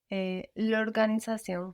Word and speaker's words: l'organisation: And what happens to la organisation when you put them together? I don't pronounce. Show me. L'organisation.